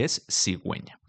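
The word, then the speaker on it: cigüeña: Por ejemplo, la primera palabra sería si sigueña si no tuviera la u con dos punticos, pero como la tiene se pronuncia y esigüeña.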